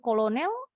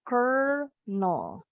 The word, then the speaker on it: colonel: Bacanya bukan kolonel, tapi colonel. Colonel. L-nya hilang nih, berubah jadi R. Colonel. Contoh, KFC kan Kentucky Fried Chicken punyanya Colonel Sanders. Nah, Colonel, bacanya Colonel. Sama kayak pengucapan corn, kernel.